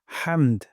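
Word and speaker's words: حمد: রব্বানা ওয়ালাকাল হামদ। এখানে হামদু আছে, এখানে আমরা ওয়াকফ করব। অথবা হামদুও পড়তে পারি, তবে ওয়াকফ করলে সুন্দর হয়। হামদ গলার মাঝখান থেকে হা উচ্চারণ করব।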